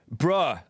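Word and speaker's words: bruh: came across this from bra moments bra moments and it's they spell it b-r-u-h but it's kind of like bro moments i guess that's how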